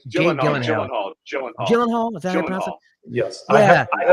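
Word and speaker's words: Gyllenhaal: I'm wrong um Jake G Gillan Gill I pronounce it right gyen hall is that yes I have heard that before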